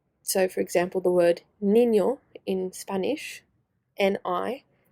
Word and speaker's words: niño: written in English, and you've got ñ, which is an N with a little wave above it, which changes the way the letter is pronounced. So for example, the word niño in Spanish, N-I, ñ,